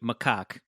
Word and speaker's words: macaque: It feels sad for the monkey, which is pronounced, I just listened to it, macaque.